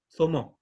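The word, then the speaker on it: zomo: eh, la mujer, en el fondo la zomó significa mujer, es una D mezclado con Z la pronunciación, zomó, ¿ya?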